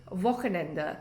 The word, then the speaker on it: Wochenende: So Wochenende, willkommen, it's all with the V sound.